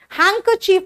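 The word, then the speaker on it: handkerchief: चीफ बोलते हैं इस इसका स्पेलिंग आता है कई बार एग्जाम में हैंकर चीफ लेकिन लिखते हैं हैंड करर चीफ देख रहे हो बीच में अगर डी आता है बेटा वो सॉफ्ट हो जाता है हैंकर चीफ और लिखते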